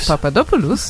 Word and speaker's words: Papadopoulos: Papadopoulos, indeed. Yes, the intonation is important.